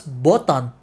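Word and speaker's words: ボタン: I find this out, but apparently button in Japanese you pronounce it as botan.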